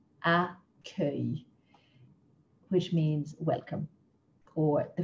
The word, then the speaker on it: accueil: We've got words like accueil, accueil, which means welcome, or the front desk in a hotel. G-U is pronounced like the g in go.